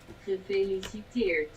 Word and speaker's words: Gefeliciteerd: That's what you're supposed to pronounce the G. Gefeliciteerd.